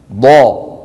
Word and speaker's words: ض: في اللغات الأخرى هناك دال مفخمة، لكن في العربية هناك الضاد ضا. غير المغضوب ضو ضا ضي والأرض. ولاحظوا بأن صوت الضاد رخو، يعني قابل للمط.